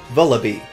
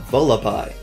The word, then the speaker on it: Vullaby: read its name and dubbed it Vullaby. You know, just like Magby, because it's a baby. Makes sense. There's no reason that couldn't be the right pronunciation, but only later did I put together that the intention was for it to be Vullaby, and my mind melted. That's so much better than the way that I had been saying it.